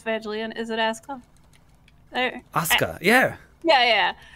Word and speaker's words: Asuka: Asuka, yeah. Yeah, yeah. Like, even when it's in the middle of the name, you don't pronounce it. Asuka, right.